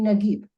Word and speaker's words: Najib: And also a person from the North Africa would pronounce the jim like a G. For example, the word of the famous Egyptian novelist Najib Mahfuz, for him would be Nagib.